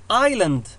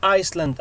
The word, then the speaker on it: island: island جزيرة ولا نقول Iceland أو Iceland island جزيرة.